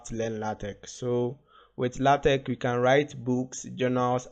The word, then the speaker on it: LaTeX: you okay so what is la tech so la tech is pronounced as la tech okay and then it's a to use to